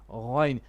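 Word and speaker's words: غين: It's just their sifa differ, So no Ga, it's Gha, Ghain.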